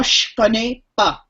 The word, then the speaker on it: je connais pas: Moi, je, but we drop the e part of je and just say the je sound. Moi je connais pas.